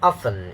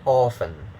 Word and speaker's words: oven: cake in an oven don't say orphan okay if you say orphan if you're affected by the spelling we say often but